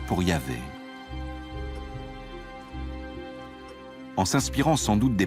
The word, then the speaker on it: Yahvé: Dans l'un des récits, Abraham appelle Dieu par son nom propre, qu'on prononce traditionnellement Yahvé. Les passages faisant référence à Yahvé, qui s'écrit avec un J en allemand, correspondent à la source J.